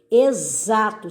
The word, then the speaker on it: exato: Exato, som de Z também, exato.